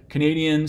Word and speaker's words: Canadian: who's from the location stress shifts to be on this syllable here Canadian so two things happen one is that this bow which used to be an ah Canada changes into a schwa here so that gets reduced and we note as well that sort of the underlying representation of this is a but when we aren't stressing it in just the word Canada it just becomes a schwa so it's reduced kind